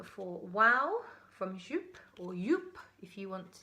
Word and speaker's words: Joop: I've also gone for Wow from Joop, or Joop if you want to say it properly.